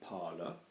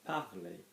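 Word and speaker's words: parler: out another vowel afterwards we don't pronounce the R so we're not saying parlor we're saying partly okay A A A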